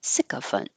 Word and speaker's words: sycophant: My first meaning pronunciation of this was the second choice in the dictionary, so it's less common. So I'm trying to change my thinking of it to putting stress on the first syllable.